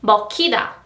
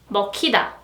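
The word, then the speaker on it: 먹히다: And meo-ki-da, meo-ki-da, the k sound.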